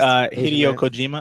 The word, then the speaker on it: Hideo Kojima: Hideo Kojima, I believe that's how you say it.